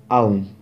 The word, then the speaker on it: ওম: ওম মূলত ওম নয়, আ উ আর ময়ের মিশ্রণ, তাই মূলত হবে আউম।